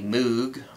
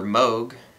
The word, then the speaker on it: Moog: And that looks like a Moog or Moog. I actually saw a video where somebody from the company said that there are several legitimate pronunciations. And where I'm from, people say Moog.